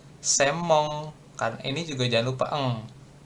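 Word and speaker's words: 専門: Kan ini kan harusnya senmong ya kita. Tapi bacanya semong.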